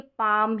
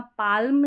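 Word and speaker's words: palm: यहां पर भी देखेंगे पाम है यहां पाल्म नहीं बोलते यहां पर भी एल और ये जो एल एम है इसको म पढ़ रहे क्योंकि एल यहां पर साइलेंट है एम का उच्चारण हो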